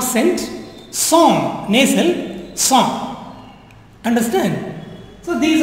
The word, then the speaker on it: cent: But the pronunciation is not cent. Song.